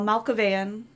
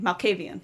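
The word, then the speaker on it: Malkavian: Um, in addition to that, um, Fabian, Amala, Al Malcavan, Malcavian, Malcavian, that's how you pronounce it.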